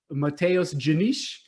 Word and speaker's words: Matheus Diniz: So I want to thank Matheus Diniz for coming on the show. How did I do my pronunciation?